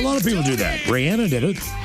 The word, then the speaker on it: Rihanna: But she was like, "Actually, it is Rihanna."